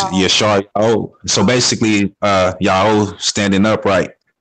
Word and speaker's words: Yasharala: true name of Yah, and the language of pronunciation of the alphabet and everything. So it's like Yasharala. What? Yasharala. It's Yasharala.